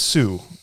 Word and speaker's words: Tsui: I'm going to say it's Sue, probably. It's Tsui. Choi. Choi, is that how you say it?